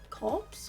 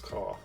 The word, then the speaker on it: Corps: Corpse? Core. Why though? Why? I don't know. Why the silent P?